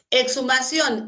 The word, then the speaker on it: Exhumación: Exhumación, esta X, entre vocal y vocal, porque la H acá no tiene sonido, ¿ah?